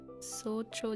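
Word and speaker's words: 早朝: So cho just means early morning. Okay. Yeah. So this is pronounced so cho.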